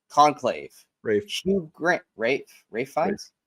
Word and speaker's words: Ralph Fiennes: Next, let's go to Best Actor, and the nominees are Ralph Fiennes, Conclave, Rafe. Hugh Grant, Rafe Fiennes. It's pronounced Rafe, yes. Damn it! It's spelled Ralph, motherfucker.